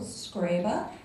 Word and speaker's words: Scriba: So I would first like to introduce Joe Scriba. He is a serial entrepreneur in Austin, and I called him today to confirm that that is how his name is pronounced.